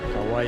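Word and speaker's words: Kwai: Kauai es como pronuncian ellos, río Kauai.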